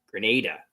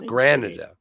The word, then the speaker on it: Granada: glad you like it I don't spell it Granada because someone will pronounce it like Canada Grenada that's Grenada right no it's Granada ah she stopped take